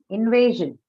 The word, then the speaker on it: invasion: First syllable? Why so? Noun, right? That's why. Okay. Invasion.